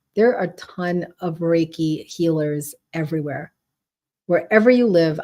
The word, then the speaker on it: Reiki: to him with the with the help of raiki um oh Lynn you got to finish that